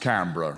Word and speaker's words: Canberra: You do know it's pronounced Canberra, right?